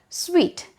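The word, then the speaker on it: suite: to you earlier about so if you observe the spelling and the pronunciation they are quite different it is it is a french derivative it is derived from french language so it constitutes a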